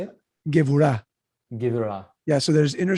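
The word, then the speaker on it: גבורה: There's something called gevurah in Hebrew, which is like your inner strength. How do you say it? Gevurah.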